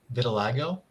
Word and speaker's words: vitiligo: it pronounced I I looked up how to pronounce it it's that kind of skin thing where it's discolored in some places Vitiligo Vitiligo Vitiligo that um spreads down a sort